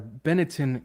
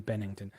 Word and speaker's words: Benetton: setting up several franchises for Bennington or I keep saying Bennington Benetton uh even so much